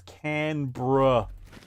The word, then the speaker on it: Canberra: damn you Americans watching just so you know it's Canberra like yeah like you're saying bro but if the Romanians